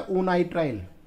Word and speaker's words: onitrile: CN के लिए आता है ओनाइट्राइल, ओनाइट्राइल, ओनाइट्राइल। तो ओनाइट्राइल की स्पेलिंग क्या होगी, ONITRILE, जस्ट लाइक आवाज दे रहा हूँ, ओनाइट्राइल, ठीक है ना।